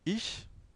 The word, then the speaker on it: ich: Il y a une prononciation assez spécifique du ich. Donc, c'est pas le che de cheval, chemise, chaleur, comme il fait en ce moment. Mais c'est un, c'est un, c'est un son assez, c'est un che, bien sûr, mais assez fin. C'est ich.